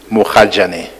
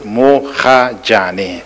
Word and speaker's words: Mogajane: As I have it from the statement signed by him, is Mogajane, M-O-G-A-J-A-N-E. Yeah, no, the spelling I know. It's just that I would have said Gajane instead of Hajane.